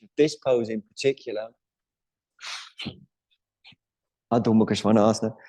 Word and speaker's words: Adho Mukha Svanasana: Adho Mukha Svanasana. Some of you might wonder, why does Jim always bang on about the pronunciation of this pose in particular? Adho Mukha Svanasana.